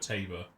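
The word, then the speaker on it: Tabor: Spy oh that's where they pronounce tab tabber it rhymes of Labor all right no history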